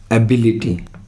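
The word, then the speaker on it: ability: एबिलिटी और एबिलिटी, तो बी के ऊपर ये जो लगाया हुआ है, ये इसका मतलब बी पर ज़्यादा स्ट्रेस है, तो ये इसका सही प्रोनाउंस आ जाएगा एबिलिटी, यानी बी पर स्ट्रेस देंगे तो एग्जैक्ट आ जाएगा।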